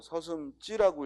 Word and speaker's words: 서슴지: 그럼 서슴지라고 읽어요? 서슴찌라고 읽어요? 서슴찌라고 읽어요. 발음은 서슴찌 하고 된 소리가 나지만 지를 씁니다.